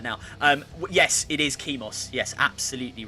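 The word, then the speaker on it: Chemos: it at first because i always want to call it chemis because i think chemist but it's not chemist it's kimos c-h-e-m-o-s we have a winner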